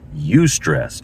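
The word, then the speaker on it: eustress: Um, so there is bad stress of course, but there's good stress that the psychologists call ustress or EU stress. That's how it's spelled. EU stress, right? So you stress, what is ustress?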